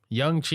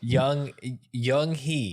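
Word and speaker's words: Yung Hee: Young Chi. I said it wrong. Young Lee, right? Fuck, did you even look at the wiki? This is gonna be progressively worse. Young-hee. Young Hee. There we go.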